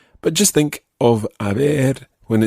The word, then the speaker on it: ver: and have a look the word bear which is spelled v-e-r means to see and it's often combined with ah in the phrase now it's quite easy to get this mixed up with another word in spanish which sounds exactly the same but it's spelled h